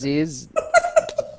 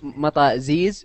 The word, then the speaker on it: mataziz: Mata ziz, yeah, with a Z. Don't say tee.